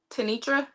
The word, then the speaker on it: Tanitra: Is your name pronounced Dr. Tanitra?